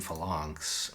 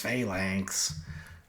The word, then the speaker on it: Fons: need I think argivian Fons I know apparently it's faank but uh I think I I insist on calling it pronouncing the word Fons even though it's wrong I think that's exactly